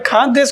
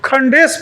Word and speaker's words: खानदेश: मैं खानदेश के बारे में बिल्कुल नहीं जानता था, और उसका प्रोनाउंसिएशन भी मैं नहीं कर रहा था। अंग्रेजी में खंडेश पढ़ रहा था।